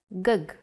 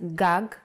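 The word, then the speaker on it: גג: see this word written you might want to read it as gug there is no vowel sound in Hebrew the vowels are often not written you would know that this word is pronounced gag because it has been taught to you before and this is why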